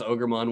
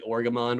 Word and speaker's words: Ogremon: And it has Ogremon with him. Or I guess in the Japanese, it's technically Orgamon, which throws me off so dang much.